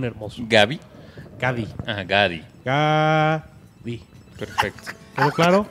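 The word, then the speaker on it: 가디: Es la primera vez que tenemos una pronunciación sencilla para un Pokémon tan hermoso. Gabi. Gadi. Ah, Gadi. Gadi.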